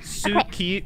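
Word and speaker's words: 好き: Ski desu. Like you're skiing. Kodone. Inugame kodone inu desu. It's spelled, it's spelled suki, but it's pronounced ski.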